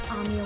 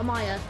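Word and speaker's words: Amiya: rules to survival as Amia once said now Amaya God damn it I keep saying it wrong Amaya compared to ourin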